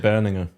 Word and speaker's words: Berninger: Berninger.